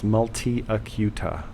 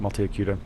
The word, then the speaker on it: multiacuta: If anybody wants to look it up, it's multiacuta, just like it sounds, like Hooked on Phonics. Just phonetically spell it out, multiacuta.